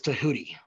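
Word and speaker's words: Djehuty: Greeks called it uh Todd's actual name was tahooty um like d h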